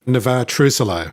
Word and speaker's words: Navexa: Is that the correct pronunciation? I hope so, yeah. Yeah, that is. Navexa.